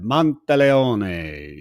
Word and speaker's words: Monteleone: And you have to say it like that, Monteleone. She told me how I to say appreciate it it.